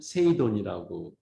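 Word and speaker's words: 整頓: 해요 거기서 아 그래요 일본말로 정리를 세일이라고 읽고 정도는 세이돈이라고 읽어요 그래서 이제 뭐 삼정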